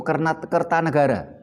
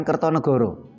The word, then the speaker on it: Kertanegara: Terus namanya Raja Singasari itu Kertanegara bukan Kertonegoro. Karena ee sastra Jawa mengenal vokal O setelah abad 15.